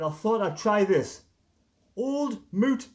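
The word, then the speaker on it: Old Mout: thought I'd try this old moot cider that's how you pronounce it Kiwi in line this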